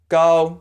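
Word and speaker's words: 高: listen for it and the next word go is spelled Gao so it sounds pretty much like hall but swap out the H with a G sound go and stay with a flat tone like your robot go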